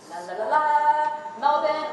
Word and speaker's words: Melbourne: Now, I know I sound like a little bit of a dork saying Melbourne, but I was schooled by my friends there that that's how you pronounce it, not Melbourne.